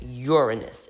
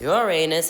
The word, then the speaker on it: Uranus: Following next, Uranus. It's not pronounced Uranus, it's pronounced Uranus.